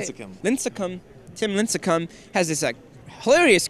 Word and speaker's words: Lincecum: If you haven't seen it, Tim Lyncham, is that how you say it? Lincecum.